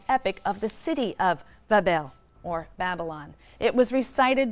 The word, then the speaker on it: Babel: him a magnificent Shrine or Temple in Babylon pronounced Babel which simply means Gateway of the god the